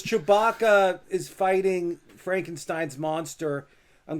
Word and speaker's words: Chewbacca: How do you say his name? Chubara? Is that right? Oh, you don't know Chewbacca from Star Wars? Oh, Chewbacca. Oh, I see what go. it is. There you go.